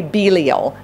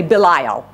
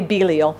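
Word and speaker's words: Belial: God's purposes what else is he this is pronounced in more than one way I say beo b e l i a l but some people say bile I say Belo and you know what Belo is one of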